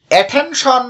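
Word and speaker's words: attention: অ্যাটেনশন শব্দটিতেও 3টি syllable আছে, এখানেও মাঝখানের সিলেবলটিতে বেশি জোর দেওয়া হয়েছে, তাই এটি হলো স্ট্রেসড সিলেবল। এখানে ঠি বর্ণটির উচ্চারণ ঠ এর মতো করতে হবে।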